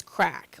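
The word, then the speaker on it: craic: One of my favorite ones is crack. Like a good crack means they had a great time. It was a lot of fun. They even spell it weird. It's C-A or C-R-A-I-C.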